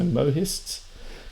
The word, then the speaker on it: Mohists: Mists in the translation I guess see the H has a sound to it so mohists confusions and the mohist